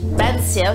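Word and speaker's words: bánh xèo: Banzeo, ça c'est la prononciation viette.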